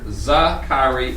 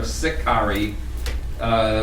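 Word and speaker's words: Sicarii: one the there it's can be pronounced either za khari or sikhari we believe that they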